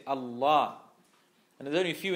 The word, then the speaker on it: Allah: You don't say how non-Muslims say Allah. Allah. That's how they say Allah, isn't it? No, you say Allah.